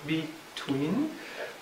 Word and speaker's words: between: You get the same thing with between, for example, two syllables, between, and we'll point that